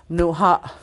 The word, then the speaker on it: mnuha: See, you notice the second sentence, the second syllable is stressed.